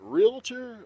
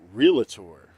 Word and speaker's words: realtor: And the whole running gag, the is it realtor or realtor? Realtor or realtor? And you're like, we're realtors. We don't have an extra syllable.